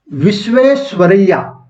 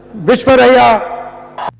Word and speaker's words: विश्वेश्वरैया: हाँ, सर M विश्वेश्वरैया, जिसका नाम ज्यादातर प्रोनाउंस नहीं कर पाते हैं। राहुल गांधी भी नहीं कर पाए थे एक बार। हाँ, वही है, विश्वरैया।